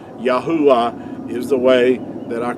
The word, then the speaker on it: Yahuah: they had these word letters had to be pronounced making vowel sounds yahuwah is the way that our creator's name is